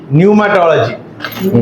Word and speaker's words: न्यूमाटोलॉजी: न्यू माटोलजी pneuma टोलॉजी पी is silent but when you are writing you should write P भजन संगीता जगह English